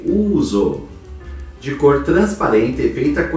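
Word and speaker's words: ούζο: que é o uso escreve em grego uso e pronuncia-se uso de cor transparente feita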